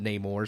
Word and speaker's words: Namor: consistent with it um most fans I think know him his name when that's how Stan Lee pronounced it and all the cartoons growing up said Neymar so I'm still saying I'm not saying no more it's stupid I don't